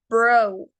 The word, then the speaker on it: bro: Recordemos la pronunciación de las vocales. En este caso es una O larga. Entonces no es bro, es bro. Termina en una U más o menos silenciada.